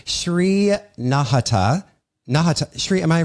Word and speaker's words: Nahata: like to say Shri nahata nahata Shri am I pronouncing your last name correctly yeah that's perfect nahata yeah I feel like it's a short ah right so nahata exactly Shri uh was